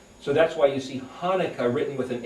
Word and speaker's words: Hanukkah: word Chanukah, or pronounced Hanukkah, but it's really Hanukkah. It's this guttural sound.